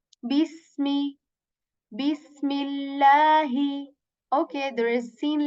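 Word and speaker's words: بسم الله: So this seen letter, just like English letter, kind of S letter with this whistle sound in it when we say bis. I hope you can hear the whistle sound in it, just a bit of it.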